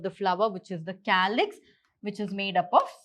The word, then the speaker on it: calyx: So what they have done is, according to the pronunciation, it's K. So calyx, K.